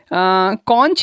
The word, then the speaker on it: conch: कहा जाता है या कॉन्क भी कहा जाता है। अमेरिकन और ब्रिटिश इंग्लिश में इसके दो अलग अलग प्रोनाउंसिएशन हैं। CONCH को हम कॉन्च भी कह सकते हैं, कॉन्क भी कहते हैं।